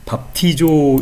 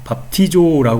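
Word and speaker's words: βαπτίζω: 스트롱 남바는 907번이고 그다음에 발음은 밥티조 이렇게 읽는다 밥티조 이렇게 되어 있습니다이 밥티조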